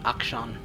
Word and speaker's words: Akshan: I pronounced it correctly, Akshan. It sounds like action, now that I think about it.